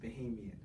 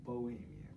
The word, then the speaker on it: Bahamian: And for the record, it's pronounced Bahamian, not Bohemian.